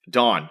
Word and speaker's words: Dan: Don spells his name D an A N, but it's pronounced D O N. Dawn, which has been immensely amusing to everyone I've